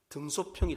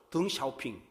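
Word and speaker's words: 邓小平: 아주 유명한 정치인이 있었습니다 중국의 등소평이 사람입니다 중국 발음으로 등 샤오핑 중국 국경의 천안문 강장에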